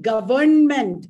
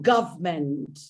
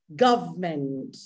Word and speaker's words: government: of sounds in between government is wrong government the pronunciation of government is government wednesday is wrong you